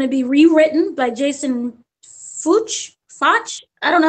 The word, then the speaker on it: Fuchs: There's Lobo that is going to be rewritten by Jason Fuchs. I don't know how to pronounce it.